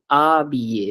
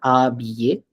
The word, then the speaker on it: habillé: This word is called habillé. It's not habillé. It's habillé. As if the H was not there at all.